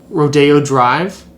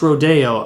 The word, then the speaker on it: Rodeo Drive: about like rodeo drive actually it's pronounced rodeo oh i know i know rodeo when i see it and that's that's rodeo drive and yeah that's i